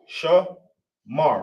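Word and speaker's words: שמר: So you got sha, you got sha right here, right? It's the complete form of the letter sha. Then you got ma, ma. Then you got ra. Obviously, with no a right there, you obviously know that this is connected.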